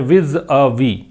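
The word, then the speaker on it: vis-à-vis: तथ्यात्मक स्थिति, विज अ वी, इसको बोलते हैं विज अ वी, ठीक है। इसका प्रोनाउंसिएशन ये है और इसकी जो वर्ड कैटेगरी है विज अ वी की, ये प्रेपोजिशन है।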